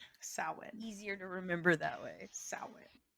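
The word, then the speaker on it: Samhain: Uh, anything else we need to know about Sin? Sew saw Sam Wayne Sam Sin. So that's we'll we'll make that our our last fun fact about Sawin is some people do pronounce it Sam Hayne.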